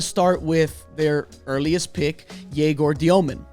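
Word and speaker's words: Egor Dëmin: And I'm going to start with their earliest pick, Jaor Diomomen, right?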